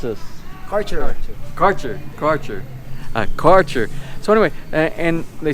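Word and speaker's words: Kärcher: How do you pronounce this? Karcher.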